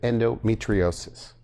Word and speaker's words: endometriosis: but you treat a lot of women with endometriosis, right? Did I pronounce that right?